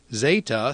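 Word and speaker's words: ζ: the E in met Zeta sounds like the Z in days when it begins a word and DZ when it's found in the middle of a word eita sounds like the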